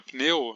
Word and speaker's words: pneu: Como na palavra pneu, no português, que a gente até coloca a vogal I, né, pneu, só que em teoria esse P é uma consoante muda, então nesse caso seria uma sílaba de vogal nula.